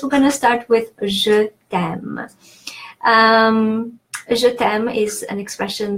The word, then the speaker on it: Je t'aime: So Je t'aime, the rules of pronunciation that you can find here, the final E in je is pronounced E because it doesn't have an accent. T'aime, the apostrophe replaces the E from te, which means you, and that appears because E and A are both vowels, and just to make